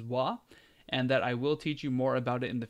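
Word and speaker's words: は: there just know that that ha is pronounced as wah and that I will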